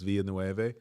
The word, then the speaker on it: Villanueva: so it could be Villanueva, where the L's are instead of Villa, like quesadilla, it's Villanueva.